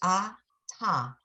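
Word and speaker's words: אַתָּה: It's a ta. Ah, The hey is silent at the end. Whenever there's a hey at the end, it's silent. right. So it's ata.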